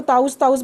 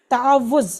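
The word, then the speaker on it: تعوذ: लफ्ज़ की प्रोनाउंसिएशन देखें, आज तक हम इसको ताउज़ बोलते रहते हैं, ये गलत है। इसका असल वर्ड जो है तावुज़, वाव पे जो है ना शद है, तावुज़, ये उसकी प्रोनाउंसिएशन है।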